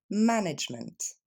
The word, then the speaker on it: management: vous prononcer en français il va y avoir seulement trois syllabes en anglais ma nage mais encore une fois ma nage immelt plus rapide management et je vous laisse